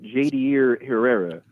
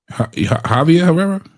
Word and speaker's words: Javier Herrera: bringing up the name Jadier Herrera? So I'm not sure why he's doing that. I mean, Jadier Herrera, he's not. Javier Herrera? No, okay, I pronounced it Jadier. My bad. I pronounced it incorrectly.